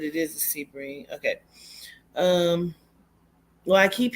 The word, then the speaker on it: Sebring: keep hearing Sebring yeah is that how you pronounce it Sebring it is okay I'm gonna write that